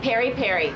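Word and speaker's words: peri-peri: sausage with some type of pepper on top Perry Perry there we go Perry pepper we had a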